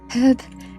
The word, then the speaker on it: herb: Herb is an insult?